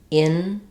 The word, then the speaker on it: interesting: English pronounce this word it looks like and we can pronounce it with four syllables interesting interesting but this isn't a very common way of pronouncing it in fact you'll rarely